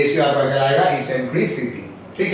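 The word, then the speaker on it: eccentricity: Called, इसको कहते हैं इसेंट्रिसिटी, इसेंट्रिसिटी, बस सिंपल इस पर इसेंट्री, इसको समटाइम्स लोग एक्सेंट्रिसिटी भी प्रोनाउंस करते हैं, हम प्रोनाउंस कर रहे हैं इसेंट्रिसिटी। एक्सेंट्रिसिटी भी हमने कुछ लोगों को बोलते सुना है, चलिए इस, ठीक है, इसेंट्रिसिटी।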